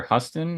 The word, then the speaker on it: Huston: So Vincent, the actor for Vincent, Danny Houston, I think, or Huston is how you pronounce his last name.